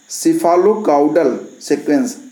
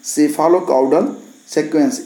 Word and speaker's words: cephalocaudal: और इसको अगर अंग्रेजी में कहें तो क्या कहेंगे, सेफालोकाउडल सीक्वेंस, सेफालोकाउडल सीक्वेंस। स्पेलिंग में बता देता हूँ, CEPHALOCAUDAL, ये एक ही में है, ठीक है। ये हो गया वह सेफालोकाउडल।